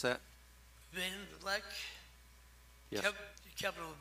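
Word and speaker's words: Van Vlek: How do you pronounce that? Van Vleck.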